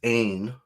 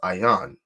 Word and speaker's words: Ayin: And Zion will more than likely pronounce this character as Ain, right? But brothers, the elders at One West would have pronounced it as Ayan, right?